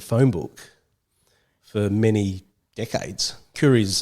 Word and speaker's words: Khoury: And in Syria, it's actually Kuri. But when I think Dad was trying to pronounce it, he says Elkhoury in Arabic, which is the Kuri.